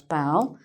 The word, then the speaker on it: bough: Okay, so that's "bough".